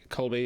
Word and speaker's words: Kolbe: Director of this episode, Winrich Kolb, or Kolbe, Winrich Kolbe, however you pronounce it. Kolbe, yeah.